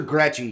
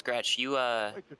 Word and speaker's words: Gretsch: It's Gretsch. We had the conversation my first race I did. Okay. You mispronounced my name because everyone typically pronounces the Z that's in my name that's silent.